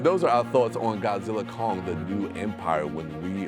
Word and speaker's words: Godzilla x Kong: is the success of Godzilla Kong the new Empire don't pronounce the X do not pronounce the